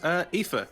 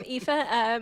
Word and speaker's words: Aoife: And Aoife. Yes, Awesome. That's how you pronounce that name. Yes, it is. Well done. I am Aoife.